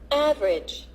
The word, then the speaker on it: average: The vowel immediately after a stressed syllable is sometimes not pronounced. Average.